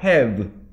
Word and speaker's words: have: have. have. 이 have 발음할 때는 아래 미술을 물고 이거예요.